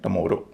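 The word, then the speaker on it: tomorrow: लेकिन इस मामले में दो तीन शब्द अपवाद है। जैसे टी ओ एम ओ आर आर ओ डब्ल्यू इसको कहेंगे टुमोरो।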